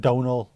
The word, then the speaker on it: Domhnall: Yeah, that's pronounced Donall.